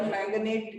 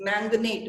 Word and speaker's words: manganate: इट्स मैंगनेट, मैग्नेट नहीं है. That is तो सिंपल मैग्नेट हो जाएगा फिर ना.